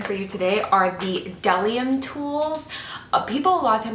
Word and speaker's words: Bdellium: brushes I'm reviewing for you today are the Dell iam tools people often pronounced on bdellium it's actually W my beat is silent I